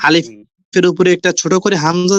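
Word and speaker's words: ألف: তো প্রথম যে অক্ষরটা, ভাই আলিফের পরে আপনার মাউসটা দেন, হ্যাঁ, ওই মাউসের প্রথমে। তো প্রথম প্রথম অক্ষরটার নাম হলো আলিফ। এতে কোনো টান হয় না, ঠিক আছে?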